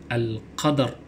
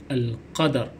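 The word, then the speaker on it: القدر: Jadi disebut dengan Al-Qadar. Jangan disebut dengan Al-Qad, itu salah, tapi kena nyatakan bunyi ra di hujungnya seperti berikut, Al-Qadar.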